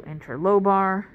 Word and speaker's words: interlobar: interlobar arteries and veins they are literally two letters off from one another and one of them has an extra syllable because of those two letters so interlobar interlobular right literally this